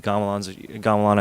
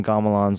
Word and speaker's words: Gamelan: Like there's like it's a Javanese gamelan, I think, you know, as an orchestra.